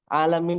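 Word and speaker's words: العالمين: Alamin. Nah, jadi jangan alamin. Nah, paham ya perbedaannya? Jelas atau tidak ini? Paham, Ustaz. Ibu-ibu, jelas ya perbedaannya ketika huruf mat itu keluar dari hidung dengan huruf mat yang keluar dari mulut ya.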